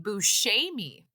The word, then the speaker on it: Buscemi: This one says the correct pronunciation is Steve Buscemi. Oh, interesting. Okay. Buscemi. That could be wrong, but this is what the internet says.